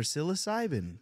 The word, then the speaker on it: psilocybin: P for psilocybin. The P is silent.